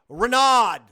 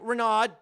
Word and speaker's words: Renaud: That was my former captain, Tack Renaud. I looked it up so I could pronounce it properly.